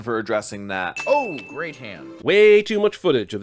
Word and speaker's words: Han: Anything hen? It's Han. But that's okay.